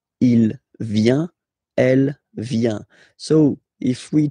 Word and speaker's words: il vient: viens, il, elle, vient, final T not pronounced, il vient, elle vient.